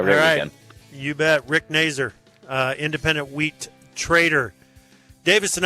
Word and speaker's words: Nazur: little too fancy and tried to go with Nazar or something like that. Yeah, Nazur. It rhymes with laser.